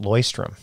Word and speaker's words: Leuchtturm: By the way, I learned that it's pronounced Leuchtturm.